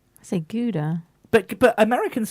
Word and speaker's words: Gouda: I never really got is that we say galder here in the UK to pronounce that type of cheese you're looking at me funny you say Ghouta right so Gouda but but Americans say guzar I / wait